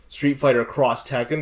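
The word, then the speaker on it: Street Fighter X Tekken: of the Cross franchise which is why it's pronounced Street Fighter cross Tekken despite the fact that it's just an X yeah that is not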